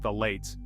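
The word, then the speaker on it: phthalates: we've got the notorious phalates pronounced the lates these sneaky chemicals are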